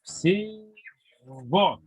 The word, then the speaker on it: всего: Donc, parfois, le gain, il y a le son de V. Всего. Oui, à la fin de yego, ogo, ce sont les terminaisons. C'est la règle sans exception pour prononcer. Il faut prononcer le V au lieu de que. Je répète, en ogo et ou yego. Donc, yivo ou всего, c'est toujours le V.